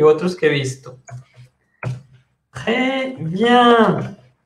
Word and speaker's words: très: Très bien. Très avec un S qui ne se prononce pas.